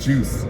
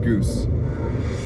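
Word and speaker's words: Guce: Oh, it's probably pronounced Juice, not Goose. G-U-C-E.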